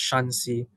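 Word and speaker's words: Shaanxi: are inner Mongolian uh I am told this is pronounced shansi and the next one is pronounced shansi okay so in the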